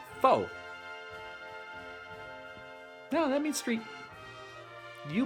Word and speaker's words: pho: You might say pho. I think that's right. That is the delicious noodle soup, and it is good. Or you also might say pho. That is a prostitute. Don't say that. So say it right when you order it.